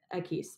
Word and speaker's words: Equis: Equis.